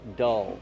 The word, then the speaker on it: dull: Use the short sound like up and cup. Dull. Plus the dark L.